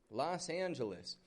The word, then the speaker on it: Los Angeles: You can see by the spelling of this, L-O-S space A-N-G-E-L-E-S. Los Angeles. These are Spanish words. This means the angels.